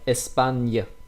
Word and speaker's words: Espagne: Yeah, this one, remember, actually when you have GN, we pronounce that like N, like Espagne, Peña.